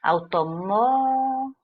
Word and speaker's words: automóveis: Então, a letra C vai ser o nosso gabarito, porque automóveis. A penúltima sílaba é tônica e próximo, a antepenúltima sílaba é tônica, o que nos dá aquilo que foi pedido no enunciado, ok?